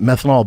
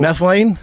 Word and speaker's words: methylene: And like then I stumbled upon uh was it methanol blue? That's not how you say it. What is the actual methylene?